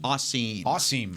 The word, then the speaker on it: Asim: Asim. Almost like awesome. Awesome, but Asim.